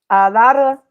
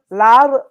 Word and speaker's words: Laura: I know, but I can't roll. I don't have the You can the say it like with a D, low key.